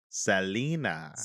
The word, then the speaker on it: Selena: you said it wrong it's still it's s-e-l-e-n-a sa lina i'm saying it right